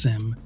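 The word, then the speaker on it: SIEM: It's pronounced SIM, like a SIM card in a phone.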